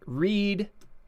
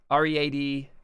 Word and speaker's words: read: mean this, and there, like read, R-E-A-D, and read, R-E-A-D, They're spelled the same. They kind of mean the same thing, read and read, but one's present, like I am about to read, future tense, or I have read, past tense. You know, it's going to happen or it did happen. It's the same word, same spelling, pronounced two different ways, means slightly different things.